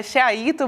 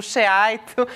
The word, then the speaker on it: Sheaito: É Sheaito mesmo, Sheaito.